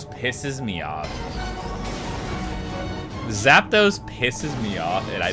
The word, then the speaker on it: Zapdos: Zapdos.